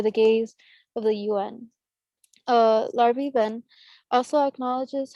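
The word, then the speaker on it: Larbi: One of the influential leaders of the You can say Larby. FLN, You can say band. I couldn't remember how they pronounced his name, and I didn't want to butcher him, but thank you, Larby.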